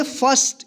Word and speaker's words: first: यहां पे देखिए आई के बाद आर है और आर के बाद कोई कॉन्सोनेंट है और इसमें कोई दूसरा वोवेल नहीं है तो इसको आई का जो है ना अ उच्चारण करेंगे।